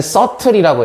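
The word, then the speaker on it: subtle: 자 얘는 서틀이라고 해요. B가 묵음.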